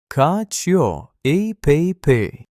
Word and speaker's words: cacio e pepe: Cacio e pepe.